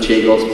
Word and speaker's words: Chagos: And I'm first of all going to disclaim this to the people here from the Chaos Islands. I think it's pronounced Chagos.